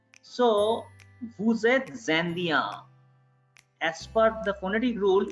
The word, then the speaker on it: vous êtes: So S is going to be pronounced as Z.